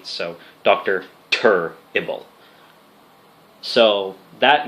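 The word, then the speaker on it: Turrible: my name is Dr turble that is Doctor and the word terrible but spelled with a u instead of an e right after the T So doctor tur ible so that name came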